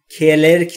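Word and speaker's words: clerk: دوستان در مورد تلفظ کلرک دقت بکنید، نگفتم کلرک نیست. کلرک بین سی و ال صدایی وجود نداره و سی در اینجا که صدا میده و همیشه کلرک یعنی کارمند.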